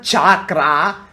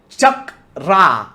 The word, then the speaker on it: chakra: Yes, it's called Chakra. It's not Chakra. It's more like Chakra.